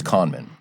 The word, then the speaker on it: Kahneman: Now, the psychologist, Daniel Kahneman, which I'm almost positive that's how you pronounce his name. I looked it up at one point. It's not Kahneman, it's Kahneman.